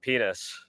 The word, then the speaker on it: Pinas: Man will be in the UFC, but man's last name it's Pinas, but it's just pronounced penis.